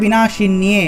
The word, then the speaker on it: বিনাশিন্যে: এখানে একটু অন্তস্থ জফলা থাকায় বিনাশিন্যে এভাবে উচ্চারণ করব, শি নিয়ে, ঠিক আছে, শিন্যে এভাবে উচ্চারণ করব।